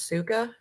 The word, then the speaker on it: сука: Suka. English is suka?